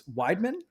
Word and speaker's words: Weidemann: I'm gonna try to pronounce this. Weidemann. Yeah, it's Weidemann.